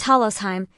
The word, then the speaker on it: Talosheim: The second volume starts with the next chapter, and it is titled The Sunken Capital of the Sun, Talosheim, pronounced Talosheim, not